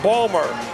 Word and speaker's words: Baltimore: veteran of democratic politics he comes from baltimore as he's pronounced there balmer barbara mikulski the projected